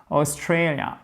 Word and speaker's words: Australia: Australia, accent tonique ici, Australia. Faites bien la diphtongue, Australia.